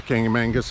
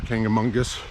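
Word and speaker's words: Kancamagus: Also, the highways and major routes that are here, like Route 112, what's known as the Kangamangus Highway or Kangamungus, depending upon your pronunciation, was not here.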